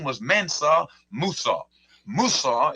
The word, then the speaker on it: Musa: Musa is the Arabic pronunciation of Moses.